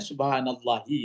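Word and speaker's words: سبحان الله: orang bacanya subhanallah subhanallah Bacanya apa subhanallahi apa subhanallaha apa subhanallahu enggak ada teringat ya selama ini ada Pak Edi Apa Pak Edi kalau membacanya subhanallahi Subhanallah hah subhanallahi ah jadi kita membacanya subhanallahi ya subhanallahi kita bacanya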